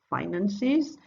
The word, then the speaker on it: finances: Je travaille dans les finances, finances. And je travaille dans les médias, again don't pronounce the S.